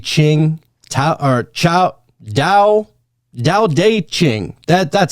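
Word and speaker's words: Tao Te Ching: I heard the story about how the book was created uh whenever we're talking about the taochi ching ta or chao dao dao deqing.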